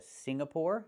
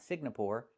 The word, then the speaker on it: Singapore: He wants to go to Singapore, not Sing-na-pore, and he wants to go to the Philippines.